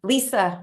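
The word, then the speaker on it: Lyssa: got to know her her name is spelled l y SSA and so in my head I pronounced it differently than it sounds and I just can't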